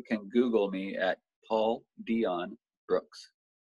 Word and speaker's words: Dion: Just anybody can Google me at Paul Dion Brooks. 1 word or 3 words. Either Paul way, Beyond think. Brooks. Like Beyond Sight or whatever. No. Paul Dion, like Dion Warwick or Dion Sanders.